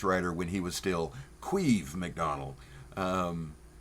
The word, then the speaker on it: Caimh: I first came across this writer when he was still Queeve McDonald, spelled Queeve, Irish pronunciation.